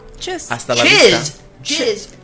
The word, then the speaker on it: Tschüss: Tschüss. Hasta la Chiz. vista. Chiz. Tschüss. Chuss. That's like, we could be making it up. No, it's casual. Tschüss?